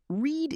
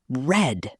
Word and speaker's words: read: Read is tricky because it looks the same in the past tense. Yes, but the pronunciation changes. In the present, we say read. And in the past, we say red, like the color.